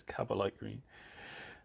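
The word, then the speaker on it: Kabalite Green: I said it wrong last time, so it's Cabalite green.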